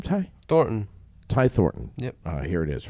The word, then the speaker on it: Thornton: do you say your last name Ty thoron Ty Thorton yep uh here it is right here